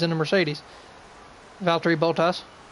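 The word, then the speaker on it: Bottas: the Mercedes about three botas I'm completely butchering that last name but it's the way I say it just I can't say it right bought ass bought ass is the way it said bought ass bought ass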